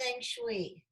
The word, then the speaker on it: Feng Shui: It's pronounced Feng Shui.